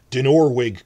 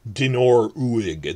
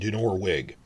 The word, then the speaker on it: Dinorwig: So, Dinorwig quarry is not pronounced Dinor-uig. That's a mistake I made for like a few days before.